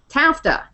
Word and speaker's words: TAFTA: transatlantic Free Trade Agreement tafta this one directly rhymes with NAFTA so accurately so it